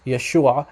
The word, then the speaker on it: Yeshua: letter i in so in some dialects of aramaic it's pronounced and some dialects about yeshua just like in the hebrew so the western dialect of syriac the western aramaic dialect it's pronounced yeshua very similar actually identical to how it's pronounced in hebrew okay so what he